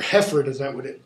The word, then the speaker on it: Hereford: And the king says, okay, now that you're here, now that you've gotten your niceties out, cousin of Hereford, or Hefford as the Brits would pronounce it, what dost thou object against the Duke of Norfolk, Thomas Mowbray?